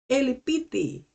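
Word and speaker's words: ἐλυπήθη: Esta palavra elopete, a pronunciação que estou usando para esta palavra, suena um pouco ultrapassada, porque a pronunciação mais moderna seria elipiti.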